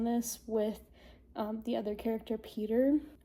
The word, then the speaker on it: Pyotr: And I'm really curious to see how he gets in on this with the other character, Peter. I don't know if it's pronounced Peter or Pewter. Pewter. It's Pyotr.